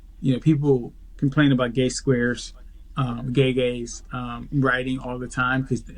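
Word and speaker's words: Gege: That's what they're calling him on the internet now, gay square, because his name is pronounced gay gay, or they call him Greg or whatever.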